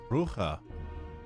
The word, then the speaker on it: Brugge: In Dutch or Flemish? This name would be pronounced as Brugge. Bruja.